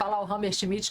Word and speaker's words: Hammershmidt: Entonces empecemos por ahí, pero preséntate, soy schmit, me gusta decir Hammer schmit, que es un nombre